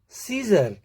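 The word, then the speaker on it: scissors: सी के साइलेंट रहने के लिए यदि सी के बाद एस का कॉम्बिनेशन आता है तो हम सी का प्रोनाउंसिएशन नहीं करते हैं। देखते हैं, सेंट, इसमें science, scene, muscle, सीजर, accent, तो इनमें डायरेक्टली एस का प्रोनाउंसिएशन हो रहा है।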